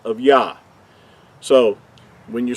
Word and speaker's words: Yah: we know that this the first two letters are pronounced as yah we talked about that